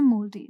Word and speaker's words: mouldy: अब यहाँ MOLDY दिख रहा है आपको, ये अमेरिकन स्पेलिंग है, इसी को MOULDY लिखते हैं ब्रिटिश इंग्लिश में। ऑलराइट, दोनों को बोलते एक ही तरीके से है, मोल्डी।